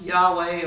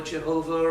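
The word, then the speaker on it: YHWH: a valve which is variously pronounced Yahweh or Jehovah or what in various forms but nobody supposedly knows the exact pronunciation these days if they are they're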